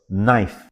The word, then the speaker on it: knife: There's a word called knife, pronounced as knife, but the spelling is Knife.